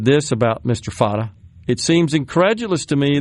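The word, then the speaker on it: Fateh: Is it pronounced Fatch? No, Fata. Pardon me. Yeah. I think I mispronounced it.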